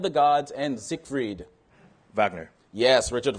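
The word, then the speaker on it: Wagner: right for 10 remember the W is pronounced V when saying the name of which composer of Twilight of the Gods and zik freed Vagner yes Richard Vagner is right for all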